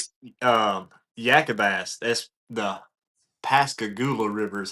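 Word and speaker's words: Pascagoula: So um Yakabas that's the Pascagula River is how you pronounce that.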